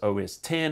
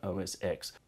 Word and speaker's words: OS X: You know, it was OS 10, it was never OS X.